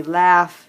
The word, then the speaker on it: laugh: our auth and clearly laugh doesn't have anything to do with this battling pattern we're working on but it does have a u it just sounds completely different a a short a sound all right let's see